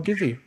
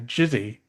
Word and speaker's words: Gizzi: Do they pronounce it as Jizzy? Yes. And I don't like that.